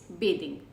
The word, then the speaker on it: bathing: तो the spelling remains bathing but the pronunciation is different. Instead of bath it becomes bathe.